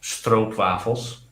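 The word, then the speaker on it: stroopwafels: you sorted on those troop waffles which are dutch pronounced strobe waffles which true prefers works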